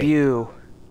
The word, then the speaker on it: debut: It's pronounced Do you love it? debut.